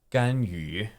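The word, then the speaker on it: Ganyu: So this second character is tough to pronounce for a lot of non-Chinese learners. Okay. Gan yu. Gan Yu. yu. The way to make this, what I tell my students, is Yeah. do an E sound, E, and then make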